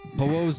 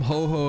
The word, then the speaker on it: Ho-Oh: You keep calling him Ho. Oh, I called him Ho-Ho as a kid too. But it's just Ho-Oh. Ho-Oh. Like say ho like Santa Claus and then say oh.